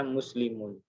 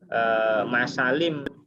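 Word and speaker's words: مُسْلِمُونَ: Kemudian mim, sin, lam dan mim ini bacanya muslimun ya, muslimun gitu ya. Jadi bukan masalim atau musalima ya, apa namanya? Ya, bukan seperti itu.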